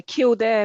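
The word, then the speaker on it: Kildare: You ran the is is it pronounced the the Kilder Marathon or the K Cider Marathon or Yeah, Kildair Marathon.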